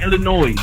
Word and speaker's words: Illinois: I love you, bro, but the S is silent, my man.